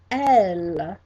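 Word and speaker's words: elles: And our second way to say it is elle, elle, and that is spelled E-D-L-E-S. E-D-L-E-S. Now, here's the difference between those two. They both mean they. But if you say L, the second one, E-L-L-E-S, that means they, and they are all girls.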